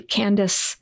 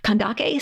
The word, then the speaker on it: Kandake: back to our sources it's spelled with uh a Kappa so we know that it was pronounced with a hard hard C sound kandake so I'll use the